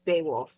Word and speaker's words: Beowulf: Beowulf, yeah.